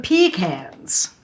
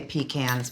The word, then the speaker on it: pecan: Well, I do say pecans, but many people will correct you to say Pecan. pecan. Oh, that's an affect. That's totally wrong.